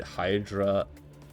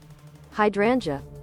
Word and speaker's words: hydrangea: Is it hydra? I'm just going to Google how to pronounce this. How do you pronounce hydrangea?